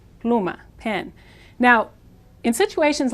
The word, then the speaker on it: pluma: Latin America means pen the Spanish U is an ooh sound ooh pluma pluma pen now in situations